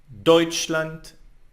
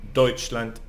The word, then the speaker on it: Deutschland: But like always in German, there are some exceptions, and where we don't put the accent on the first syllable.